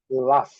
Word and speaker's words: laugh: E a terceira é o verbo rir, ou risada, laugh. L-A-F, laugh. GH com som de F.